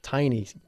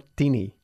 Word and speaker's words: tiny: Tiny. Muy bien. Se pronuncia tiny, no teeny. Se escribe teeny, pero mucha gente lo dice así. Muchos españoles. Pero es incorrecto. Deberíamos decir tiny, ¿ok?